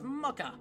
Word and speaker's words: mocha: than I thought a mcha egg mocha egg not mcha it's mocha I know how to